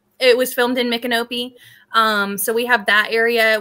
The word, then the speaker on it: Micanopy: but we cover Micanopy, which a lot of people look on the map and they say it's spelled like my canopy.